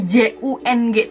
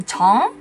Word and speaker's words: Jung: Lanjut menuju kata ke-8, yaitu sama seperti marga yang J-U-N-G tadi, Chong. Bukan Jung tapi Chong.